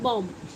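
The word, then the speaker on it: bomb: इसको पढ़ते हैं बॉम्ब।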